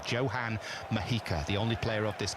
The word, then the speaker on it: Johan Mojica: Johan Mojica is how that name is pronounced. Was actually named after Johan Cruyff because his parents were massive fans, apparently, but he's pronounced with a solid J. Johan Mojica, the only player of